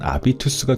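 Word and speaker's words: Habitus: 스펠링이음 해비터스 Hus인데 이제 영어 발음으로는 해비터스겠지만 이게 독일어 발음으로는 아비투스가 되는 모양이에요.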